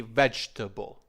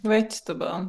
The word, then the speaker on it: vegetable: You said vegetable. It is Okay. fine, but a more natural pronunciation would be vegetable. Well, Vegetable. okay, vegetable. That's right. So vegetable. That is how the natives would say it.